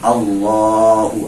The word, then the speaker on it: Allah: Jadi dengan 2 kalimat Allahu Akbar, ya. Dan di dalam mengucapkan Allahu Akbar juga awas dalam pengucapannya, jangan terlalu panjang A-nya, Allah. Jadi kalau kita mengucapkan Allah jadi Allah. Nah, insyaallah nanti mungkin bahkan